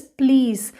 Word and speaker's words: please: ending e sound so this word is please the last e is silent next is horse the